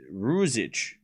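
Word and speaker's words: Ružić: You can pronounce rouge. Jit. So it's Ruzic. Ruzic.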